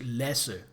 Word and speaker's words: Lasse: and exotic sounding name to an American. Lassi, Lassie, Lassi. But that is just a completely mundane normal Danish name. I I have been in school with guys named Lesser. And that's how you pronounce it in Danish. Lesser.